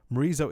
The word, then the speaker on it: Morizo: Other than rhyming with chorizo, Morizo is actually the nickname